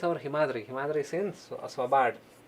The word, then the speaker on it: Svalbard: Himadri is in Svalbard. This L is silent over here. Svalbard. Svalbard, Norway. Yeah, the Svalbard, Norway.